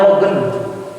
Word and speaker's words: Logan: Nah, dulu itu ketika Indian Archipelago itu ada seorang tokoh orang Irlandia yang tinggal di Singapura, namanya Logan. Bukan Lohan, laut katanya.